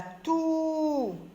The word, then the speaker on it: toux: La toux, X, lettre muette.